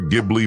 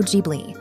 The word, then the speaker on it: Ghibli: hello film bugs so studio gibli is correctly pronounced as Studio jbi the gbi part is